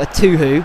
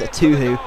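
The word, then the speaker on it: Etuhu: And then Zamora, playing it out wide, plays it to a Tuhu. See, I know how to pronounce it now. Thank you guys, a Tuhu.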